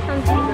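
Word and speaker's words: santé: Sante.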